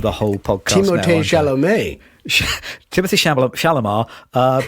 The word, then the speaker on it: Timothée Chalamet: I was told off over dinner for mispronouncing Timothée Chalamet's name.